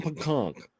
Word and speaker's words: Pancake: I'm sure that's not his last name, but maybe. It's Pancake. It's pronounced Sam Pancake.